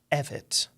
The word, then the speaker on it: Evette: Just those that little sound bite so everybody from from now on knows it is Evett.